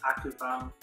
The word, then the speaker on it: ocupado: So ocupado in English is like occupied, like occupy or something. So he's transferring a little bit of his English to this part, the first part of the word. So the pronunciation is ocupado.